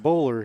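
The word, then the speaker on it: Boller: michael baller number two b-o-l-l-e-r they pronounce it bowler here bowler okay bowler is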